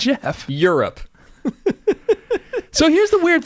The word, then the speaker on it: Geoff: When have you ever seen Geoff pronounced Geoff? I don't know. In It's Jeff.